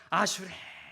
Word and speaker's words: 아슈레: 옆에 있는 사람 보시면서 아슈레. 와, 반대편 보고 또 합시다. 아슈레. 어떻게 막 감동이 찾아오십니까? 근데 어떤 사람들이 이 아슈레를 잘못 발음해서 아수라라고 발음해요.